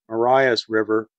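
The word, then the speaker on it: Marias River: dropped by his fiancee as was the apostrophe from Maria's leaving the river named Mariah's River pronounced Mariah hence the Mariah Museum one of the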